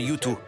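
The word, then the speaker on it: Yutu: Il s'appelle YouTu mais ça s'écrit Yu Tu, c'est pas You le groupe.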